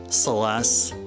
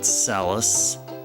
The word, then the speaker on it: Celes: Celeste, not Calis.